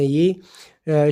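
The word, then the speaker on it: ewe: डब्लू ई यू और इसकी pronunciation जो है वो बिल्कुल जिस तरह के हम ए बी सी डी में यू का जो लेटर है ओ पढ़ते हैं तो बिल्कुल हूबहू उस यू जैसे हम इसकी प्रोनंसिएशन करेंगे यानी ई डब्लू ई और इसको प्रोनाउंस करेंगे यू की तरह तो एक कहा जाता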